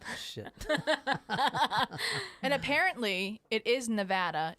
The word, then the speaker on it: Nevada: Well, tonight, so I got some great stories this week, and we're starting with the Nevada tan story.